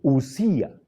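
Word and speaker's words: οὐσία: Está mal pronunciado. Es Usía. Usía.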